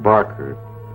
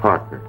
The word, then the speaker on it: Parker: got my name wrong it's not Barker it's Parker I got myself